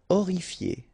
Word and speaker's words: horrifié: Horrifié. Same thing here. You don't pronounce the H.